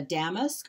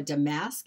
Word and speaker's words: damask: We're gonna start with a damask or a damask. It's pronounced both ways.